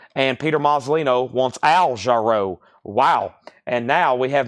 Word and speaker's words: Jarreau: They're trying to tell me I'm mispronouncing Al Jarreau. I think I used to say Jarreau. Al Jarreau. And they was like, no, it's Jarreau. Row, like row your boat.